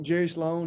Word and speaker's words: Sloan: that, everybody know Coach, I think it's Coach Sloan. Is it Sloan? Did I pronounce that right? Jerry Sloan, yep.